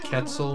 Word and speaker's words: Quetzal: Although, if you break it down phonetically, it does have the same sort of sound a C makes. A percussive K.